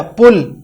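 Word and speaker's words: پُل: جیسے مثال کے طور پر پل، اس کا معنی ہے لمحہ، اور پل، اسی پے جب ہم نے پیش لگائی تو یہ بن گیا پل، اس کا معنی ہے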